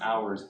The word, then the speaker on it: hours: good it says longer hours the H is silent longer hours in Japan so pretty